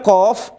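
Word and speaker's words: ق: Berikutnya qaf. Cara bacanya ini gimana? Ini cara bacanya. Qaf.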